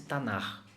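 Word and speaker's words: Tanah: formam a chamada tanar pronuncia se tornar é mas se escreve t a n a h mudo anac mas se pronuncia como eu disse tanar que é um começo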